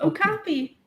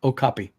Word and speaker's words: okapi: the animal name again Oh copy Oh copy man I always forget that thing it's just like my name that's true call a cop Oh copy Oh copy so what